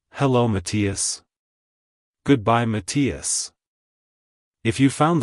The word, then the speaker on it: Matias: correctly emphasize the first syllable Ma and then quickly transition to the second syllable T finally ending with a quick us at the end like hello Matias goodbye Matias if you